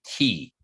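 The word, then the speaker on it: qi: something known as the key q i q i it's pronounced key and so the key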